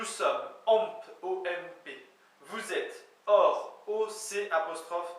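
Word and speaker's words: oc'h: Mais ça se prononce et. Nous sommes, omp, O-M-P. Vous êtes, or, O-C apostrophe H.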